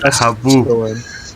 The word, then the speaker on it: haboob: I can't help but laugh at Haboob. Haboob. Hamoud! Hamoud! Hamoud! Raisin Bran Crunch Vanilla Almond? Let's trade with... Nice. I pronounced it wrong. The H is silent.